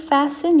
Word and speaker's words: fasten: 그리고 please fasten your seat belt and return your seat and trade table to the position. 모음 앞에 관사 주의해 주시고요. Please fast your seat belt is f음 아니고요. 티는 묵음이에요.